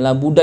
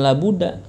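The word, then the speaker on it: لا بد: La budda itu kudu maksudnya. La budda itu. Bacanya la budda, bukan la buddha. Kalau la budda nama berhala, tuh ada namanya berhala namanya la buddha.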